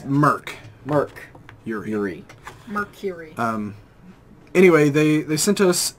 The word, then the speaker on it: Merkury: today we are going over black label from Mercury from Mercury they say to a no yes it is spelled different actually yeah a little little weird